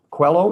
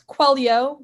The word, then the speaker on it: Quaglio: Quello. Am I pronouncing it correctly? It's Quaglio, but it's Quaglio.